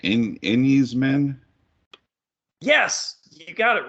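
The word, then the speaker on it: Enys Men: This is for, I'm probably going to pronounce it right, Enyes Men?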